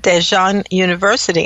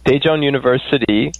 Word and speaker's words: Daejeon University: being a student at dejan University and also correct my pronunciation of that oh actually it's very very close its Daejeon University and it's about three